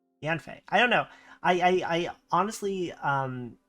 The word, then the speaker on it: Yanfei: Yangfei? Yanfei? Yanfei. Not Yangfei. Yanfei.